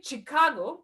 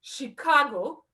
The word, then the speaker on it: Chicago: advice full stop um i used to say chicago like cheese and i very recently found out it's chicago like in french it's apparently french name if you didn't know